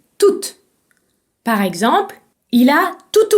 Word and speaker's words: toute: Si le mot tout est situé devant un mot commençant par une voyelle, vous pouvez le prononcer toute. Par exemple, il a tout oublié. Toute, T-O-U-T-E, se prononce toute.